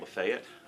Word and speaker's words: Lafayette: Uh then I went to work in a small town called Lefayet or Lafayette if you want to spell it. Um Lefayet, Tennessee and that was a culture shock for me in my life.